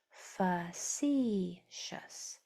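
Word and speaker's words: facetious: And the second syllable is accented. Facicious.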